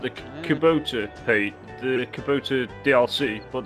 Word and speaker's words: Kubota: have brand loyalty or anything like like the Kabuto is that how you pronounce it yeah yeah Kubota yeah yeah but what you find is they'll